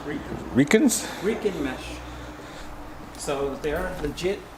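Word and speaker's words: Riken: wheels are actually reikins r-i-k-e-n i think it's pronounced ricans mesh so they are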